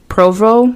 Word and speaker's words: Provo: back to the sky and bailed out over Provo Utah I think that's how you pronounce that it's p-r-o-b-o awesome leaving behind his